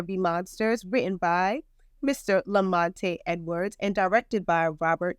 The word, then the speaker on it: La Monte: I'm sorry, it's Lamont, actually. The E is silent.